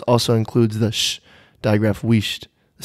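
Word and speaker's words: huisst: The word pronounced weisht. Spelled H-U-I-S-S-T, which originated in around about 1350 to 1400 A.D., which is after the Roman Empire, Sarah.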